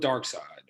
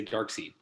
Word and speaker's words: Darkseid: i'm gonna go with darkseid or however you say his name you said it correctly hey man i was in a comic book store one time and i heard a guy say dark seed i heard don't ask